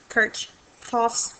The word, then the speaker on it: Kirchhoff: Kirk Cha's laws and if you Google how to pronounce that um you're going to come up with a couple of different ways to pronounce it so anyway we'll do the best we can Kirch coughs laws that's what we're